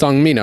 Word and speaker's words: Seong Mi-Na: Is it Sean? Is it Seong Mi-Na or is it Seong Mi-Na? They just call it Seong Mi-Na. It's Seong Mi-Na, right?